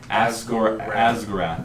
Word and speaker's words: Asgurath: Asgurath. Asgurath. It's for Gorath and Gyrath. Gorath. Like with AS, not AZ, but Asgurath.